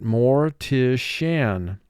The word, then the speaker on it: mortician: to mortician school and for spelling pronounce it more tischen moore has two sounds um mark the word more tishan repulsive repulsive